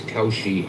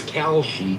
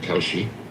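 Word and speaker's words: Kalshi: feel bad about um thinking that Khi was Kawoshi. I thought so, too. I thought it was C. Am I the only one? It's Khi. K A L S H I. But people pronounce it Koshi.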